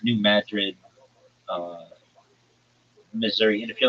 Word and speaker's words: New Madrid: like uh well it's New Madrid uh Missouri. And if you're like, why are you calling it Madrid and not Madrid? It's not pronounced like Madrid, like in Spain.